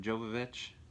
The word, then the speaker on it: Jovovich: we got mila joe how do you say it jovovich yeah i was i think i used to always say jojo joe vovich um but yeah this